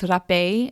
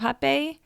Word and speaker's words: hapé: However, in Lorna Liana's ebook on hapé, she explains that, so RAPE with a little accent over the E is the Portuguese word for snuff, and R in Portuguese sounds like an H.